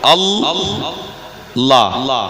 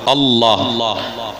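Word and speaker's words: الله: যেমন আল লা দুবার উচ্চারণ হলো আলিফ লাম যবার আল লামের উপরে তজদিদ আসবে দুবার পড়তে হবে লাম আবার লাম আল্লাহ ওই লামের উপরে তাজদিদের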